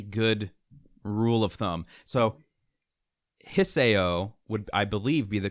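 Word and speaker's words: Hisao: comes to Japanese names, you have to pronounce all the syllables and pronounce them fast. It's typically a good rule of thumb. So Hiseo would, I believe, be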